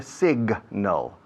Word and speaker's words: signal: Se pronuncia signal. La G se pronuncia muy bien, se oye bien.